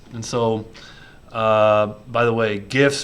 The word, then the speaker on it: GIFs: And so, by the way, GIFs or GIFs, it's a debate for the ages. That's this format. I say GIFs. I think most people say GIFs, but that's not important. The creator of the GIF pronounces it with a soft G.